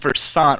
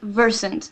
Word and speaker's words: Versant: Versant but we say Versant I'm not going to lie it was an accident and we started call saying Versant but uh that's how in Sweden that's how they would pronounce it verant like like that uh